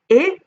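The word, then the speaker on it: へ: in i we have e written in hiragana as h e but it's pronounced just an e sound okay so it's not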